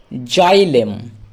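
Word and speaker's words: xylem: এর মতন তারপরে দেখো জাইলেম এক্স ওয়াই জাই কেন কারণ এক্স এর উচ্চারণ আমাদেরকে বলা আছে বর্গীয় জ এর মতো হয় তাহলে এক্স এ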